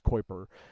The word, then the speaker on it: Kuiper: The Kuiper Belt is what Pluto is in, and if you're wondering how you say it, it's Kuiper.